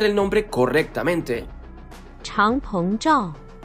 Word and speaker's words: Changpeng Zhao: Binance fue fundada en 2017 por, y pidámosle un poco de ayuda al tío Google para pronunciar el nombre correctamente, Changpeng Zhao.